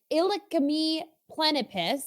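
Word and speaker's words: Illacme plenipes: there is the millipede ilicami plenipus and that is verbatim that's how you pronounce it i know it it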